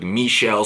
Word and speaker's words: Michel: for Georgia it was Nick Chubb and Sony Michel that's how you pronounce like the girl and dodgeballs like Michel stead of let's get out of it of